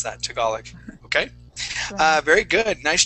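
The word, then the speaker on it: Tagalog: called talug tal yeah that's how we would pronounce that toolic okay uh very good nice job uh let's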